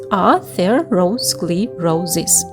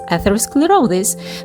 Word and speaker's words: atherosclerosis: Break it down into six parts atherosclerosis so it's atherosclerosis the root word here are "athero-" which means gruel or paste and "sclerosis" which means hardening.